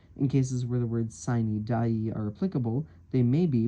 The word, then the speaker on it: sine die: The term adjournment sine die, I'm using the note here as a pronunciation guide, and the notes are written slightly strange.